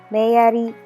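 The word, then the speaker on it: メアリー: Mary in Japanese is pronounced as Meyari, and our comment is Nihonjin.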